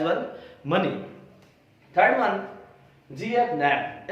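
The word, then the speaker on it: Knapp: Third one, जीएफ नैप। इसके अंदर के जो है वो साइलेंट है, के नहीं पढ़ा जाएगा।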